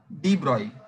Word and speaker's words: de Broglie: de Broglie, ऐसे word सुनने में ब्रॉगली लगेगा बट de Broglie है. It is pronounced as de Broglie.